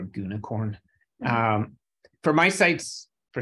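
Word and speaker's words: gunicorn: popular are uwsgi and I guess it's G unicorn is how you say it or goonicorn um for my sites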